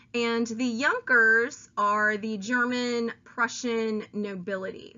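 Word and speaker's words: Junker: army the younger class that word that you see here is pronounced Jonker and the yonkers are the German Prussian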